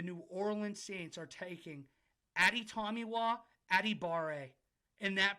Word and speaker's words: Adetomiwa Adebawore: With the 30th pick in the 2023 NFL LOD mock draft, the New Orleans Saints are taking Adetomiwa Adebawore. And that pronunciation was drilled.